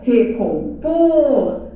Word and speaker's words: recompor: Veja, o por é a sílaba tônica. Por que que é a sílaba tônica? Porque é a sílaba que manda na palavra, ó, recompor. Por é a sílaba que manda na palavra, é a sílaba tônica e não vem com acento.